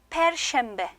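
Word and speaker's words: Perşembe: 페션베는 쉐음 정확하게 내 주시면서 페션베 자, 그다음에요 목요일에 전요일 그다음에 다음 요일 제가 써 놨죠?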